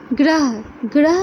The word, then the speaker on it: ग्रह: क्या हो रहा है, ग्रह में भी क्या हो रहा है, ग आधा और र का पूरा उच्चारण हो रहा है। बोले ग्रह, देखिए जो अ है वो र के साथ आ रहा है, न कि ग के साथ।